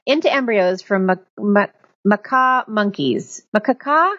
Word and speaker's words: macaque: or isp cells into embryos from maca monkeys makaka how do you say that i've no i heard that before macaque right yes macaque haha me and macaque are